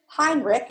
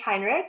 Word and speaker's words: Heinrich: today I have Hinrich and I probably have said it wrong so say hello everybody incorrect your last name if I sit along please you said it perfectly hi I'm Heinrich it's wonderful to be